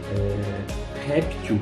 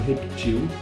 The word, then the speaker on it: réptil: Réptil ou reptil, acreditem vocês ou não, as duas pronúncias são admissíveis, as duas escritas são admissíveis, assim como xerox ou xerox, também são ambas aceitas, ambas admitidas pela língua portuguesa.